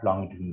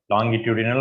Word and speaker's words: longitudinal: Here you will say compressions and rarefactions are the characteristics of longitudinal waves. Longitudinal or longitudinal, okay, both pronunciations are correct.